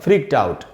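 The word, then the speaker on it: freaked out: Plus आउट मिलके बनेगा फ्रीक्ड आउट, और यहां इस डी का उच्चारण होगा ट। यहां डी से ड नहीं बनेगा, डी से ट बनेगा।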